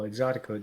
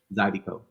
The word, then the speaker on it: Zydeco: Exotico dance. I pronounced it right. Exotico? Zydeco.